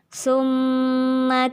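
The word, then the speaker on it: ثُمَّ: Yang pertama, summa kalla saya'lamun. Gunnahnya atau dengungnya di bagian summa. Di sana kita tahan 2 harokat.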